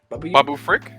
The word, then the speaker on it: Babu Frick: I'm gonna say his name wrong. Bubba Frank or Bubba Frank? Babu Frick.